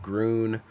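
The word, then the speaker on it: Grün: Bron Falls called Green, which in German is pronounced Grun.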